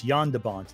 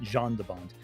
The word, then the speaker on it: Jan de Bont: By the way, I mispronounced his name. It's Jan de Bont, not Jean de Bont.